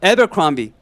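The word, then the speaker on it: Abercrombie: 실제 발음은 자 따라해 보겠습니다. 에버크롬비.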